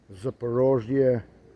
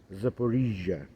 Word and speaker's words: Zaporizhzhia: Of course, it's a shelling of Zaporizhzhia nuclear plant, or Zaporizhzhia if we speak Ukrainian, if we mean Ukrainian pronunciation.